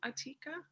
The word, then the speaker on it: Atika: bit supernatural where is atika is that how you pronounce your name atika yeah yeah that's how you say it so what's happening with